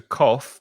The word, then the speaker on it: cough: No, I was going to speak about the coughs, because toser is to cough. Be careful of the pronunciation. The spelling's tricky. It's C-O-U-G-H, and the pronunciation cough, like K-O-F.